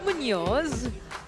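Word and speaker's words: Muñoz: Man, that is a Yeah, I've always wondered how to pronounce that. No. I like the attempts, but I respect it. Um, it's city of Munoz Nova.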